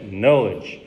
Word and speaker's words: knowledge: spell we don't pronounce we don't pronounce k yes like no yeah knowledge so the Korean is